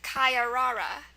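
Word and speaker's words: caiarara: is okay here it is the word is kayara kayara um it's a noun it's from Portuguese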